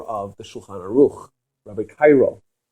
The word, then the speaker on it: Caro: So people like the Arizal, Rabbi Luria, people like the author of the Shulchan Aruch, Rabbi Cairo, right? It's spelled Karo or Caro.